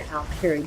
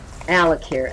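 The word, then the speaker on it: Alik'r: The best place to do a dolmen is in the Alkiri Desert. Alakir, actually, is how it's pronounced.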